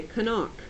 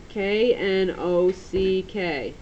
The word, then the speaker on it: knock: with an N okay this word starts with a K has a silent k okay it looks like it should say kanak k n o c k knock okay silent k and it's in the short o column knock all right your